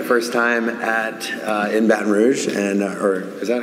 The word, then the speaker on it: Baton Rouge: this is my first time at uh in baton rouge and uh or is that how you say it yeah baton rouge there you go yeah i don't know how